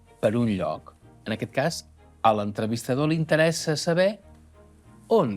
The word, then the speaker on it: casa: amb mi: casa, metgessa, casa, metgessa. Casa. Metgessa. Ho heu vist? Si ho heu fet bé, haureu notat que quan pronuncieu la essa de <i>casa</i> el coll vibra, cosa que no passa a <i>metgessa</i>.